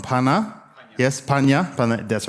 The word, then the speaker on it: Panha: And so we also have, now I'm going to pronounce it wrong, Panha. Yes, Panha, that's right, from Cambodia.